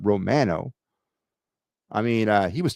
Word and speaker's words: Romano: place Romano that's that's by the way that's how you say it not Romano but Romano I mean uh he